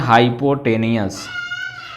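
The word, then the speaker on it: hypotenuse: और जो longest side होती है उसको हम बोलते हैं हाइपोटेनियस। कुछ लोग इसको हाइपोटेन्यूस भी प्रोनाउंसिएशन करते हैं, हाइपोटेनियस भी बोल सकते हो।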